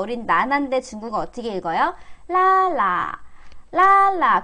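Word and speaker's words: 拉拉: 라라. 라라. 근데 이게 랄라인데 보통은 뒷발음을 잘 경성으로 처리하기 때문에, 라라, 띵띵, DC.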